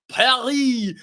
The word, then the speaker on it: Perri: Lucas, let's get the pronunciation right everybody. Perry is on his way to Lead United.